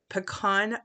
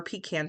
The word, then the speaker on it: pecan: are starting here with a pecan pie um or pecan pie just depending on how you say it card base I'm cutting